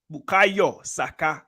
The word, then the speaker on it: Bukayo Saka: Bukayo Saka. That's how you say it, not Saka.